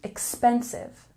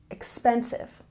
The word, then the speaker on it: expensive: a look at pronunciation we have a stress on the second syllable expensive expensive and let's go back